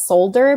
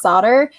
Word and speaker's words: solder: And the narrator said solder as solder because it's spelled with an L, but it's solder.